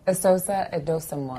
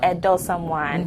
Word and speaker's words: Esosa Edosomwan: Did I pronounce that correctly? Esosa Edosomwan. Edosomwan.